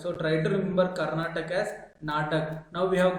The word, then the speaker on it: Karnataka: And coming to the state Karnataka, you can see 5 letters Natak. Its pronunciation is similar to Natak. So try to remember Karnataka as Natak.